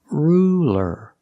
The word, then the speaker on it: ruler: So it's not ruler, it's ruler. Ruler. Use a light L. It's straighter.